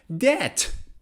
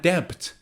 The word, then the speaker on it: debt: i don't doubt my ability or another one debt debt i'm going to pay off my debt or i'm in debt not debt the second letter we're going to talk about